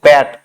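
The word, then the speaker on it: Pat: খামার প্যাট হিলস থেকেই এই দেখো প্যাট যেটা আমরা বাংলায় উচ্চারণ করি খামার পাথ পাহাড় পাথ নয় দ্যাট ইস প্যাট এই দুটো ছাড়াও আরেকটা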